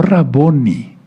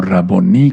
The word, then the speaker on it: raboní: Sí, él reconoció al llamarlo raboní, no raboni, sino raboní con acento en la i. Porque todo lo que termina así en hebreo se se acentó al final. como palabra aguda.